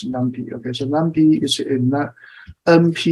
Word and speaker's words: NumPy: import okay numpy okay some people pronounce the new people it's okay I always pronounce as numpy okay so Namby is